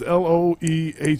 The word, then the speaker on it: Loehr: Okay, everybody tells me how to pronounce that name differently. It's Loehr.